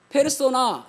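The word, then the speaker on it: persona: 겁니까 그냥 바른대로 왜 일검은 되요 그니까 펄스를 발음대로 읽으며 는 폐로 쏘 나아가 페르소나 이게 벌써 네 에 펄스 4단 퍼스 라는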